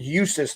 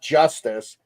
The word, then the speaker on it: Eustace: yep anyway Eustace Eustace it's pronounced Eustace not Justice eustus an an yeah